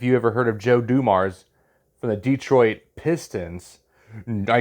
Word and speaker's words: Dumars: I used to think it was Dumas because I never heard him say the end when it was Dumars.